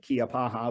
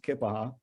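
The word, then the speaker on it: Keya Paha: Most people pronounce it Kiapaha, but it's pronounced Kippaha.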